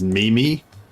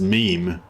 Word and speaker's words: meme: I have a friend who pronounces, a friend who pronounces meme as Mimi. I was telling him that, that's wrong. It's pronounced meme, M-E-M-E, meme. And he was like, no, it's pronounced Mimi. And I was like, it's completely wrong, bro. It's definitely pronounced meme.